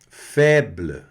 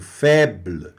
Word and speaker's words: faible: Faible, olha aí, o BL aqui no final bem, né, meio mudinho ali no final, quase, o E quase sumindo. Faible, esse BL que fica no final da palavra, que é fraco.